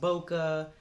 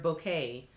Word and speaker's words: bokeh: ever hear the term bokeh sometimes it's pronounced boca but mostly i've heard bouquet that is that they